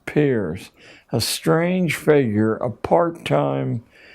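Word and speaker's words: Peirce: He was It's pronounced peers, but it's spelled as if it were Pierce. Charles S. peers, a strange figure, a part-time lecturer at Harvard,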